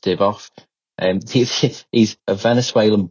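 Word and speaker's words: Divoff: that um Andrew I think it's Div is pronounced DV off.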